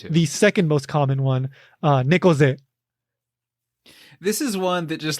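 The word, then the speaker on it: 猫背: Again, neko, cat, ze, like back, or usually se. Yeah, se. Yeah. In this context, just slightly different pronunciation, but nekoze.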